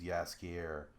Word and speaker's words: Jaskier: But the original version is Jaskier, which is how they pronounce it, or how they say it in the Netflix show.